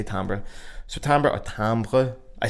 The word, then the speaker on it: timbre: Timbre is not pronounced like that, bruh. Timbre. It's a fucking French word, but timbre will do.